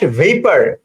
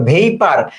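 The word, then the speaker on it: vapour: তারপরের প্রশ্ন 12 নাম্বার প্রশ্ন ওয়াটার চেঞ্জেস ড্যাশ ভেপার এটার উচ্চারণটা খুব সুন্দর ভেপার আমরা বলি অনেকে ভেপুর আপনি উচ্চারণ বানানটা মুখস্ত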